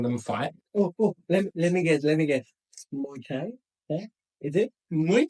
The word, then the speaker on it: Muay: Burma invading their country, and you've got these guys now, like Muay, I think is how you pronounce it. Yeah, that's correct.